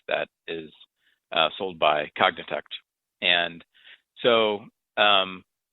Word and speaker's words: Cognitect: I have um you're working at as a cognitech is that how you pronounce it that's right right and and you're